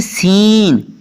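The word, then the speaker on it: scene: Seizures, seizures में भी एस के बाद सी है इसलिए सी साइलेंट है। आगे जी सीन, एस सी ई एन ई सीन, यहाँ पर भी सी साइलेंट है।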